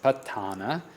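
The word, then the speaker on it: Paṭṭhāna: And the Patana is, the proper pronunciation is Patana, and this is a detailed analysis of conditional relations and of mind and matter.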